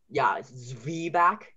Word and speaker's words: Zwieback: And then, Zwieback, IE, is E sound.